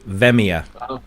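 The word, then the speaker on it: Via: No, it's Well, you pronounce it right. It's v i a. Veia.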